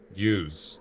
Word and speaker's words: ewes: How do you pronounce that? E W E S. Use.